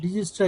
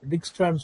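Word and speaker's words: Dijkstra: என்ன algorithm use பண்ணி இந்தா அல்காரிதம் அது டிஜிஸ்ட்ரா ஜே எல்லாம் வந்து சொல்லக்கூடாது டிக்ஸ்ட்ரான்னு சொல்லணும் ஜே வந்து இல்லன்னு நினைச்சுக்கணும் அந்த இடத்துல அப்படிதான் சொல்லணுங்கறாங்க ஏன்னா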